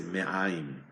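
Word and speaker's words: מעים: Intestinos en hebreo se dice me'aim. Me'aim son intestinos. Se escribe mem, ain, yud, mem.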